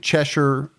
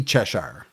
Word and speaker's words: Cheshire: I think most of the shiers, what you want to say in America is shy, right? Over there is more like sure. Like sure, like like worsture like even though it's spelled like you would say it sh like a good wester.